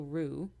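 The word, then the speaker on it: Roux: Lou pasture and another another guy named Emil Rue who we don't really talk about much um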